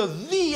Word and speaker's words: the: Ce mot vous pose beaucoup de problèmes parce qu'il y a un son que vous avez du mal à prononcer. C'est pas le H, j'en peux plus du H. Non, t'inquiète pas, c'est pas le H. C'est encore pire. C'est le TH.